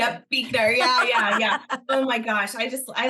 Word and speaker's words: Buechner: Yep, Buechner.